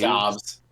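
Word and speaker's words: Doubs: I think Romeo Dubes and... Is that how you pronounce his last name? Dobbs. Dobbs? Okay. Romeo Dobbs and Christian Watson.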